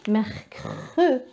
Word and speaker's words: mercredi: Après le C qui est que, merc. Après un autre R, merc, merc. Et après je dis mercredi. Donc j'ai besoin du E, mercredi.